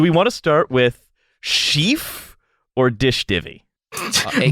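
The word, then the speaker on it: shef: gonna start with Chief it's s-h-e-f is that not Chef I know it's Chief oh uh for like a long e I thought it was Chef also but they provide addict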